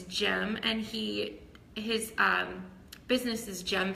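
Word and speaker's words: Cem: The C is actually sounds like the G in America. So it's Jem, and his business is Jem Fitness.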